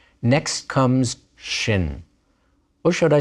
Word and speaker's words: shin: and sin are different Shin with a DOT at the upper right of the letter is sh and sin with a